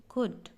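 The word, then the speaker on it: could: ठीक है, इसी तरह से इसको पढ़ेंगे सुड, इसी तरह से होता है कुड। तो जब भी ये स्पेलिंग देखो तो ये W लगा हुआ हो, पीछे देखो सबके सेम है।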